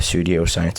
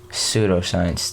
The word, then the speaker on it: pseudoscience: know how to say let me know pseudoscience thanks man I kept on saying Studio science I'm greasing from the